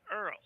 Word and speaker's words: URL: That's URL. That's how he spells it. But it's pronounced Earl.